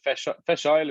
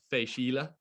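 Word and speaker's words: Fèis Ìle: earlier on so the fresh fresh oil is how i would have said it but you were saying well when i say it wrong and i mean i'm gonna say it wrong because she always tells me i'm saying it wrong but i my understanding of the way it should be said is is fei shila um so festival of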